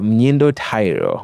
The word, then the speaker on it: Mnyindo Tairo: I have none other, and I pray I do not butcher the pronunciation of this name, but I have Mnyindo Tairo, who is, I got it right?